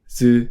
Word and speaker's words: ず: Su with the dakten is pronounced zu.